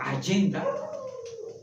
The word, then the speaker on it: agenda: Tan solo, por ejemplo, buscamos la agenda, pues ya agenda es una palabra latina, que viene de agenda, la G se pronuncia como Y, agenda, y que por cierto, aquí viene una agenda para hacerla más vivencial.